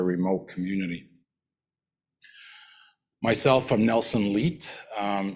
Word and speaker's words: Leite: Myself, I'm Nelson Leite. It can be pronounced many ways, but Leite is pretty good as well.